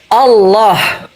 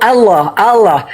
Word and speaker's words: Allah: Enggak coba saya mau Allah enggak alif.